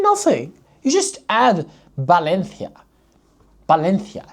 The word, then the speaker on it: Valencia: Valencia. See, you read it as a th. And if you don't, you say Valencia. No big deal. Everybody understands you.